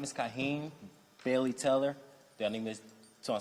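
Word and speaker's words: Kaheem: your full name here um my name is kahen Bailey teller is to spell it out or no k a h e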